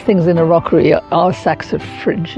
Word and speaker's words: saxifrage: And I think one of the best things in a rockery are saxifrage. Is that how you say it? Saxifrage? Yeah, saxifrage.